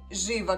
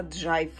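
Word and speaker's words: Jive: меня вот даже вот живо, который я называю живо, мне поправили, потому что я так и думала, что по-английски она по-другому, точно по-другому читается. И эта красотка читается правильно джайв.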